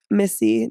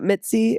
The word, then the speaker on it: Missy: Instagram and Tik Tok Missy it's not Mitsy it's not Misty it's Missy miy wow my last